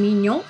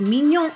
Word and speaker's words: Mignon: And maybe she doesn't pronounce her name Mignon, but because it's French, I'm going to say it the French way. And in case you guys didn't know this, Mignon is quite famous.